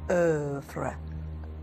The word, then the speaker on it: œuvre: My pronunciation, but it's œuvre.